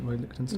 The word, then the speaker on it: Lichtenstein: Is that how you pronounce it, Roy Lichtenstein?